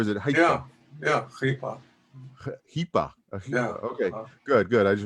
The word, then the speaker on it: Heipa: Hipa.